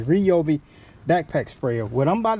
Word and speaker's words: Ryobi: kill for lawn in this reob I let me start saying it right because you guys getting mad at me Ryobi backpack sprayer what I'm